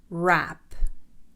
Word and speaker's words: wrap: إذا جاء حرف ال W يليه حرف ال R فإن حرف ال W لا يلفظ. حرف ال W لا يلفظ. Right, right. Wrong, wrong. Wrap, wrap.